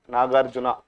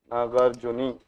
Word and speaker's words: Nagarjuni: The caves is not Nagarjuna, Nagarjuni.